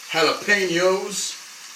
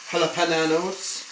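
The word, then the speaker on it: jalapeño: is basically loaded tomatoes, jalapenos, not jalapenanos, or some maybe, or jalapeno. That's the right way to say it.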